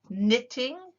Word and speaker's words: knitting: crafts these are crafts knitting knitting the k is silent knitting crochet oh it